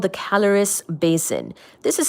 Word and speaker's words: Caloris: The largest impact crater on Mercury is called the caloris basin. This is spelled as C A L O R I S calories basin and it's approximately 1,300 kilometers in diameter. Wow. This impact crater calories basin is approximately again 1,300 km in diameter.